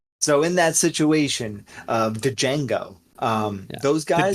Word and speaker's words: Django: So in that situation, the Django, those guys, the D is silent.